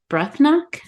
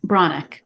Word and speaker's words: Breathnach: I always come back to it, and it is by Sarah Ban Breathnach, I think, or Mhm. Branach, I think is how you say it.